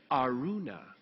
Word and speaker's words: Araunah: So I'm like, well, this guy has to be like the authority on how to pronounce names. So I listened to it and it's like, Araunah.